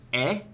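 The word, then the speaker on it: é: Um because the word for is is just e. It like this just hard to get used to, I guess. Uh because it's like just like eh.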